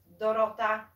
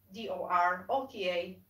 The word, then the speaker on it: Dorota: is dorota which is d-o-r-o-t-a dorota and the easiest way to to pronounce this name is like you know work rota so just use the word rota and then dot rota i think people in